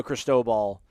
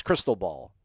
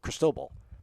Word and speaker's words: Cristobal: it wrong like it's you guys make it sound like it's crystal ball like just crystal like cristobal i think it's like it's like the the name chris defer in spanish is like